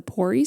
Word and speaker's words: PORI: And you mentioned certifications, and I know one of the ones that you hold is the PORI certification.